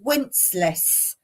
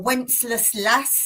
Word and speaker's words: Wenceslas: Okay, so the other thing I'm going to talk about for the letter W is, now again, different pronunciations, is Wenceslas or Wenceslas lass.